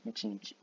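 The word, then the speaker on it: 一日: On dit plutôt Ichinichi. Il y a des prononciations communes. Ça veut dire que normalement on dit Ichinichi.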